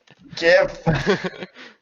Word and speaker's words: GIF: do have a bunny jif always ready and yes i use the incorrect pronunciation of jeff there i know it's gif jeff is more common gif moving on to text